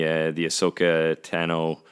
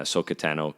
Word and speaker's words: Ahsoka Tano: I'm really liking the Ahsoka Tano, which sounds like katana. Ahsoka Tano, katana.